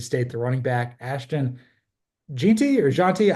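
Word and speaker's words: Jeanty: Ashton Jey or jeti I I struggled how to say his last name it's actually super simple I uh I actually went and looked at a pronunciation guide because as we know I struggle with those uh it's just Genty so uh very easy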